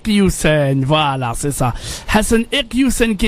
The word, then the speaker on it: Iquioussen: Hassan alors comment on prononce votre nom ? Pardon ? Husen. Usen.